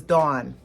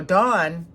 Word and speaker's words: Don: And his name was spelled D-O-N, and it was Dawn. Now, Dawn, to us in the United States, is a girl's name, right? Dawn is not how you pronounce D-O-N. However, they don't have the sound ah in their area. They don't even have that sound.